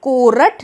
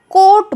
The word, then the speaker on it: court: इस वर्ड में भी R साइलेंट होता है, हम कोरट नहीं बोलते, कोट बोलते हैं, यानी कि R का र साउंड नहीं निकालते।